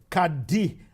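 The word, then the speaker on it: Qadr: the year the brilliant Kad amini is pronounced Kad but there's no there's no I in the first name it's q a d r but it's pronounced Kad d as you heard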